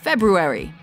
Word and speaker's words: February: Common mispronunciation, February or February. Correct pronunciation, February.